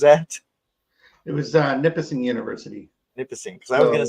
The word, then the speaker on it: Nipissing: So tell us about what is first off, how do you pronounce the university that it was at? It was Nipissing University. Nipissing, because I was going to say it a different way.